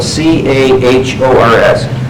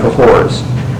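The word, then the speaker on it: Cahors: and he says both Sodom and cohor cahor is spelled c a h o RS both Sodom and cahor and all those Souls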